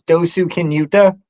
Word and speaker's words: Dosukinuta: My trail name's Dosukinuta.